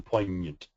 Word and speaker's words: poignant: And then there's this other version for the ny, as in poignant, and lasagna, and gnocchi, I guess, usually in French language.